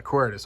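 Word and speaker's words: Quaeritis: Yeah, Quiritus.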